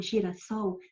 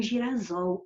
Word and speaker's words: girassol: Aliás, é para se manter a mesma é que nós acrescentamos um S, porque se eu não acrescentasse, ia ficar girasol, aí ia ter alteração fonética.